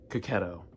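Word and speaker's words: Checchetto: Ultimate Spider-Man #1, signed by Marco Cacchetto. That's how he said to pronounce it.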